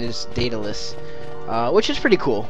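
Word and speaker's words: Daedalus: think it actually is pronounced datalis and not of Dallas as I was pronouncing it because I was saying de of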